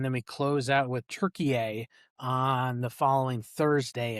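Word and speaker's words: Türkiye: Turkey is the uh the approved uh pronunciation as of a couple years ago. T U R K I Y E.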